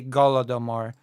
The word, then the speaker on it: Holodomor: In Russian pronunciation, you would say Golodomor, and suddenly it doesn't sound like the Holocaust at all.